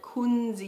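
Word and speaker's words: Kunzea: thousands of years here in Australia and it's Quincy er so you pronounce it Quincy yeah so we were so excited when this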